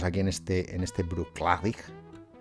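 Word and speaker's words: Bruichladdich: en este en este Bruce clavic que se pronunciaría así Creo que por Charlotte y proclavic la chesa en gaelicos y supuestamente es la segunda sílaba O sea que sería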